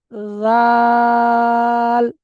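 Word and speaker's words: ذال: জাল, 3 আলিপ টান। এটা একটু পিচ্ছিল, একটু পাতলা টাইপের উচ্চারণটা হবে।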